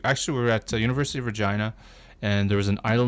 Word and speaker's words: Regina: So the city that rhymes with fun. Yes. Okay. Absolutely. So anyways, we got to Regina and we're hosted there by ResX Magazine.